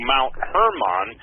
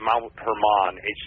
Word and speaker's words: Mount Hermon: It's pronounced Mount Hermon, with a long R, I guess, Hermon.